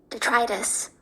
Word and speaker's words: detritus: And the next word is spelled d e t r i t u s. And this is how it is pronounced. Detritus.